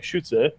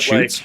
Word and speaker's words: Schütze: it in German, like it's like Schütze. It's not shoots. Like, I call it shoots too. Yeah, that's what I would call it. But like, since it's a German word, like if you're actually pronouncing it, it'd be like Schütze.